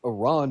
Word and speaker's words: Iran: And then the same thing with Iran. It's like you know that it's pronounced Iran, but then you turn around and you're like I ran.